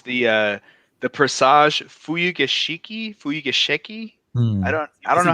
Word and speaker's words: Fuyugeshiki: How do you say it's the Presage Fuyugeshiki? I don't know how that's pronounced. Yeah, am I even close? Fuyugeski.